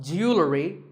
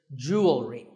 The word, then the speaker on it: jewelry: differently in American and British English but it's pronounced the same Jew will ring jewelry it's not jewelry and it's not jewelry it's jewelry up next is the word quote this is